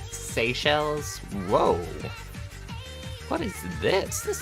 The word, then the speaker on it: Seychelles: Oh, it's pronounced Seychelles?